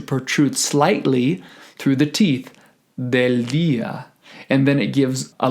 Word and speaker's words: del día: And notice on the words del día that the D is underlined because we don't want to pronounce it del día, which is typically the case when English speakers are trying to speak or sing in Spanish, but we want the